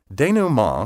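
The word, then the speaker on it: denouement: of any complex situation as you can tell from its pronunciation denu ma comes from french the word means literally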